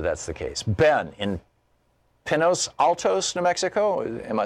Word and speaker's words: Pinos Altos: Ben, in Pinos Altos, New Mexico.